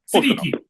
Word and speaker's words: Siddiqui: I'm your host Fasel John Moth and I am Brandon Rhinus and today we have as a guest Sitiki. Did I pronounce that right? Yes. Sitiki.